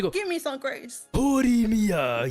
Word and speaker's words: Horimiya: Horimiya. You have to say it like that.